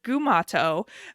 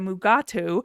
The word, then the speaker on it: Gumato: And Mugatu is not even what it's really called, because DeForest Kelley kept mispronouncing the name. So they changed it. It was a Gumato, but he kept calling it a Mugatu. And even if you watch the credits, it's still listed as Gumato.